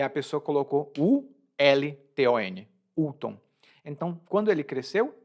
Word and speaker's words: Ulton: Se você vê essa palavra, você pronuncia Ulton. U-L-T-O-N.